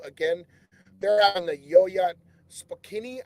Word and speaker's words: Spokane: they're on the yoyad spokini I hope I'm saying that right no disrespect to my spokeny relatives that's what it is see I said it right the first time spokeny that's what it is